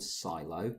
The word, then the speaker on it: Siilo: So the two that we've looked at is one's called Silo, so that's spelled SIILO, and the reason I'm spelling it is because it doesn't sound the way it should do, I guess.